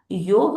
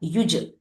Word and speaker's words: युज: फिर हमने देखा योग ओरिजिनल वर्ड है, जिसका मीनिंग है यूनियन, जोड़ना, जो संस्कृत शब्द युज से आया, युज। तो उसका प्रोनाउंसिएशन युग भी बोलते हैं कुछ कुछ लोग, जिसका मीनिंग सिर्फ इतना है, जॉइनिंग।